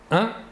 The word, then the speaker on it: un: une il s'écrit humaine il faut bien différencier la prononciation entre le masculin et le féminin au masculin 1 et au féminin une voilà encore deux exemples